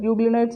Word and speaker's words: euglenoids: usually you know it's euglenoids okay we'll tell you also but euglionites is a correct pronunciation euglenoids where it will share